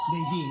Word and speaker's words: Nadine: Well, it's Montez and it's Nadine, not Nadine. Nadine. Usually that's how you pronounce Nadine.